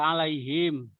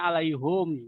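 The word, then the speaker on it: عليهم: Jadi kayak alaihim. Itu kalau Alaihim. itu kalau Ada hamzah, ya mati. hamzah dia membacanya alaihum dalam ilmu kiroat.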